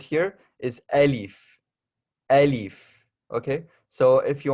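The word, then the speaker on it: ألف: So this right here is alif, alif, okay? So if you want a spell out of how that is spelled out, A, L, I, F.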